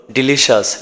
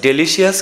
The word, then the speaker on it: delicious: ডিলিশাস, এটার উচ্চারণ হলো ডিলিশাস, ডেলিশিয়াস কিন্তু নয়, ডিলিশাস মানে সুস্বাদু।